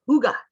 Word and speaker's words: Hygge: This is actually pronounced Hygge, not Hygge.